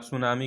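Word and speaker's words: tsunami: यू कैन, जैसे आप सुनामी का एग्जाम्पल ले लीजिए, उसमें टी जो होता है, सुनामी जब आप लिखेंगे TSUMANI, लेकिन उसमें टी जो होता है साइलेंट होता है।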